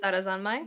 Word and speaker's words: Sarazanmai: Lydia, how do you pronounce this one? Sarazanmai?